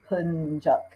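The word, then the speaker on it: Yapıncak: There is an I with the dot that has a different sound that sounds more like an E.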